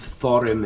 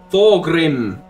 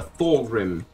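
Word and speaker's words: Thorgrim: thorm thing Thor Thor Thor Grim Grudge bear Thor Grim Grudge Bearer it's not difficult to pronounce and remember Thor Grim it's like Thor but he's Grim Thor Grim Grudge Bearer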